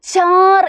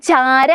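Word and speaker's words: चार: കൊടുത്തിട്ടുള്ളത് എന്നിട്ട് ര ഇട്ടുകൊടുത്തു ഹിന്ദിയിൽ അവസാനത്തെ ശബ്ദങ്ങൾ നമ്മൾ പകുതി മാത്രമേ ഉച്ചരിക്കുകയുള്ളൂ ട്ടോ ഇത് ചാര എന്നാണോ വായിക്കുക അല്ല ചാർ എന്നാണല്ലേ ര എന്നുള്ളതിന്റെ പകുതി ഉച്ചാരണം മാത്രമേ നമ്മൾ പറയുള്ളൂ ചാർ അല്ലേ ചാർ ഓക്കേ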